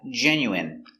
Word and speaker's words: genuine: Next, we have genuine. So remember the in is pronounced in genuine.